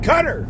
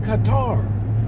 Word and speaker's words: Qatar: are dumb asses and they can't even pronounce the word Qatar when they talk about the country Qatar you listen to them dumb asses cutter cutter cutter what do you mean cutter it's called Qatar so you got a